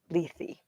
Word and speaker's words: Lethe: Greek and Latin, and they pronounce every letter. Lethe.